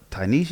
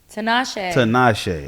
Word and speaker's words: Tinashe: You tried her for Tanisha, if I'm saying it right. What's her name? Tanisha. Tashana. Tinashe. Okay. Yeah. Tinashe.